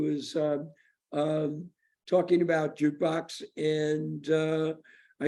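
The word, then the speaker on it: JKBX: you are at uh jukebox j k b x pronounce jukebox yeah so tell us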